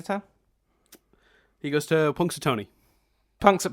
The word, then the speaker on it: Punxsutawney: the name of the town he goes to Punxsutawney punks are punks a Tony to watch they're Groundhog Day ceremony which is